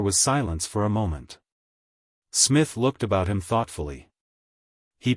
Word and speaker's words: Psmith: what is your name Smith the p is silent well Mr Smith I